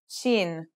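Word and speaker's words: شين: The next letter we learn is Shin. This one is pronounced just like the English sh in the word shovel.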